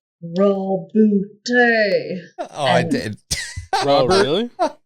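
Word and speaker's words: Roboute: I said something like reboot Gilliman, and everyone's like, Roboot.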